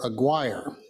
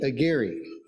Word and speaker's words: Aguirre: of our new member Aguirre it's actually Aguirre and if you can Trill your r's it's a giddy but